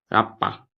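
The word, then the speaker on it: り: Trumpet को कहा जाता है राप्पा। नंबर 2 पे हमारे पास है ई, री। ऐसे स्ट्रॉन्ग इंग्लिश में री नहीं बोलना है, री। ई, एल और आर के बीच का साउंड होना चाहिए, ई।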